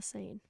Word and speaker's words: Seine: The Seine.